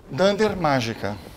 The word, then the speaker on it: __magica__: uma questão de pronúncia o nome dessa palestra corretamente pronunciado sem dander mágica tá porque quando a gente discute os métodos especiais em Python como tem essa convenção de que eles têm sempre um nome formado por dois underscores na frente dois and